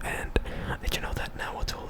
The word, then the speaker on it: Nahuatl: And did you know that Nahuatl, the TL sound, is pronounced? It's like a click. Let me do it like far away from the mic so I don't like. It is supposed to be Nahuatl, Nahuatl, Nahuatl, Nahuatl, Nahuatl, Nahuatl.